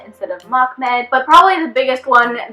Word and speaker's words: Mehmed: Like Mahmed's name, I think I was saying it more like Mehmed instead of Mahmed.